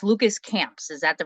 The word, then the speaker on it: Lucas Camps: am very blessed to be joined by it's Lucas camps is that the right pronunciation yes okay good Lucas is from the